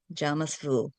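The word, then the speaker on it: jamais vu: It's j a m a i vu. Jamas vu.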